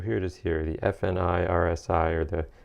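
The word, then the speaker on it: FNIRSI: So here it is here, the F-NIRSi, or the F-NIRSi, I believe is the correct pronunciation, soldering iron.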